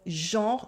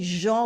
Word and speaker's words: genre: You can pronounce it with the nasal en of genre, genre, genre, or with the o like genre. People say it either way. I say genre with the nasal en.